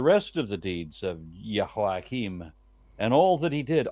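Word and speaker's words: Jehoiakim: kings of Judah so yahim slept with his ancestors then his son yahim succeeded it is it just pronounced differently isn't it yes yakim instead of Yim gotcha in in Hebrew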